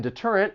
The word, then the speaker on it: deterrent: vowels like water now the T in deterrent it also comes between two vowels but we are not going to say this with a flat T and this is because